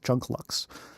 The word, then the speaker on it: Junklux: Next up is from Junklooks. Uh I probably I don't know if I pronounced that right. It's Lux. Junklux.